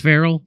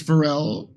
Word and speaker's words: Pharrell: Isn't there a musician called Farrell? Not Pharrell.